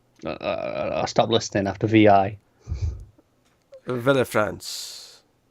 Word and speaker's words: Villefranche: Villefranche. I would assume the Vil is silent. The E is silent, so it would just be Vil.